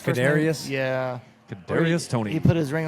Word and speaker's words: Kadarius: Tony how do you say it's canarius yeah Kadarius Tony he put his ring on the middle